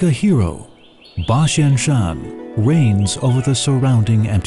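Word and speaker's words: 八仙山: about 8,000 Japanese fet the pronunciation of 8,000 in Japanese hen is similar to bashen in Mandarin Shan is Mandarin for Mountain hence the name Bashan Shan in the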